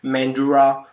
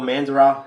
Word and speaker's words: Mandurah: your gosnells places like your mandura do it or mandurah if you depending on how you want to pronounce it uh doing extremely